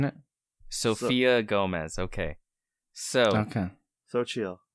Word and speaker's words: Xochitl: It's Sochi, isn't it? Sophia Gomez. Okay. Okay. Xochitl. That's how you pronounce her name. Xochitl Gomez. All right. So chill, not so chill.